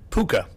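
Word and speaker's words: Pooka: Puka. Puka, as in Rhymes puka? with hookah. Rhymes with hookah. Yes, it does.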